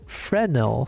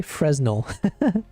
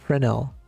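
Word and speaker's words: Fresnel: Um it's pronounced Frenel. Frenel. What did I say? Fresno. F. Okay, so the S is silent. Frenel.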